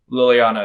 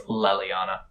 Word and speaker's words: Leliana: a ginger name well i think i'm even pronouncing wrong i think it's leliana because dragon age is gonna